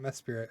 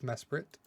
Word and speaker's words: Mesprit: There's not an extra I in there. It's not Mespirit. It's Mesprit.